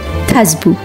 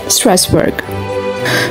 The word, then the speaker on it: Strasbourg: হ্যাঁ, আর এই বড়দিনের শহরটির নাম হলোই থাসবু। ফ্রেঞ্চ উচ্চারণ, ইংলিশে যাকে বলা হয় স্ট্রাসবার্গ।